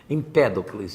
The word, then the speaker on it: Empédocles: Parece sempre que a sílaba tônica deles é trocada aqui, né? Empédocles.